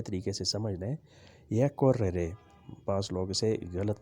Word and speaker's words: correre: یہ correre بعض لوگ اسے غلط تلفظ سے بیان کرتے ہیں، پڑھتے ہیں. correre بھاگنا. correvo بھاگتا تھا. correvo بھاگتا تھا. آر کو آپ ڈبل کر کے پڑھیں گے.